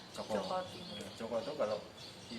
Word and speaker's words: Jaka Tingkir: Jaka, tapi kita bacanya Joko Tingkir.